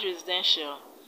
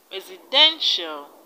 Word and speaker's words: residential: eye knee initial initial in the word residential the stress is on then then residential residential in the word influential influential